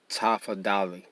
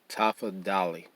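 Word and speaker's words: tafadhali: l i and um the d h is pronounced the same way the t h is pronounced in english the that is please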